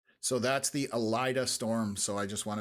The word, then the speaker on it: Alida: Uh it is pronounced Alida, not Alita. Alida.